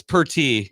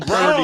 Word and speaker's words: Purdy: Oh, it's Purty. Yeah, I've been calling him Purdy.